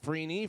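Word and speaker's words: Freeney: in defensive end Dwight freeny from IND Indianapolis Colts he's you you don't want to be a defensive end name that rhymes with weenie for Real uh wide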